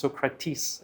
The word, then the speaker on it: Socrates: Thirsty for wisdom, the infamous philosopher Socrates, sometimes pronounced Socrates if you speak in English, consulted the oracle in Delphi.